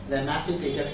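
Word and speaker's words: Ramapithecus: ठीक है, रैमापिथेकस नाम था, इसका प्रोनाउंसिएशन यही है।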